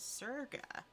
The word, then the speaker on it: Sega: Sega was named after the merging of the original company named Service Games, so the way it should be pronounced is Serga.